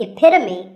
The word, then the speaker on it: epitome: might even become the epitome of good pronunciation this word means a perfect example of something and the perfect pronunciation of that is epitome it's not epitome once again epitome of course once you